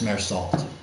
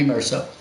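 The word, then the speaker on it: Meursault: Matt, it's Mersalt. I think it might be Merceau. Although I had a friend who went to Yale whom I remember pronouncing it Mersalt, and she was the one who recommended The Stranger to me.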